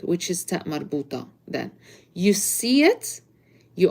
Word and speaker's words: ta marbuta: So if you put it in a word that is, or if it's in a word that is followed by an adjective, you do not pronounce it. But the regular sound for ta marbuta is a t, t. So if I'm saying Medina Jamila, beautiful city, I do not pronounce the ta marbuta.